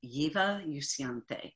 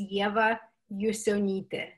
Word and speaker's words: Ieva Jusionyte: which i said as eva is that incorrect that's very very close to correct uh i've seen i've heard so many of orion's the the lithuanian pronunciation is yeva yusunite ah well okay